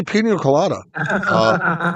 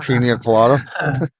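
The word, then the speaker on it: piña colada: How do you say pino colada? Pina colada.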